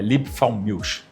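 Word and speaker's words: Liebfraumilch: Por que que durante muito tempo o vinho limfromilt é assim que que pronuncia? É limfalmilch, isso foi o vinho principal das Américas.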